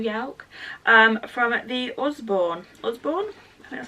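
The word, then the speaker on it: Usborne: from Yelp 2022 yalk um from the Osborne Osborne and that's how you say it counter and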